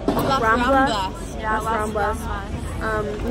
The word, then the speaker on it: Las Ramblas: It's popping tonight on the, how do we pronounce the street? Las Ramblas. Near our hotel. Las Ramblas.